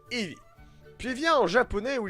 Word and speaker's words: Eevee: Ils ont pris les deux premières lettres de évolution, E et V, qui se prononcent en anglais Eevee.